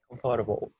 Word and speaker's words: comfortable: Comfortable. Yeah, né? Comfortable. Only 2 syllables. No, 3.